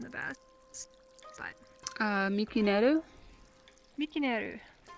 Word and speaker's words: Mikinel: Mikinel. Or the VRChat name in English is M-I-K-I-N-E-L. Yeah, it's almost the exact same. It's just the N-E-L is Neru.